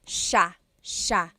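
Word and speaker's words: siya: it should be pronounced but it's actually pronounced Sha Sha so the SI i y it's a sha sound sha and then another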